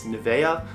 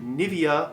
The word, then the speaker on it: Nivea: the brand new via I call it Nivea I think in German it's Nevaeh but the skincare brand the